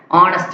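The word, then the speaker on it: honest: அண்ட் ஹானஸ்ட் மேன் ஹச் என்னது silent ஆகும். நெக்ஸ்ட் and honourable man.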